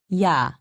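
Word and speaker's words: 야: the sound for instance ya also written as ya is pronounced ya imagine that you are trying to say e and ah very fast be sure not to pause in between pronouncing the two sounds repeat after me yaw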